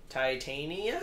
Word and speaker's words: Titania: Titania?